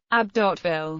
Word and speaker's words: Abbeville: Abbeville French pronunciation, Abbeville, is a commune in the Somme department and in Picardy region in northern France.